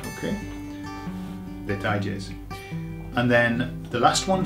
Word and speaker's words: detalles: Okay, so it's very similar to the word details, but the pronunciation, you've got to get a tie in the middle. So put a tie on it. Okay? Detalles.